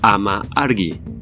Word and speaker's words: Amargi: ató por 1000 años su nombre según la traducción del sumerio antiguo se pronuncia ama argi su significado es madres